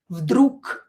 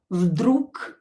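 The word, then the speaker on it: вдруг: You can hear that I pronounce this g as k. Vdrug. Vdrug.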